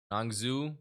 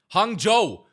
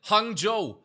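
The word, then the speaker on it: Hangzhou: Hung Joe. That's how you pronounce it. Hjo. I remember it cuz it was Joe. But Hjo, not Hungu, Hung.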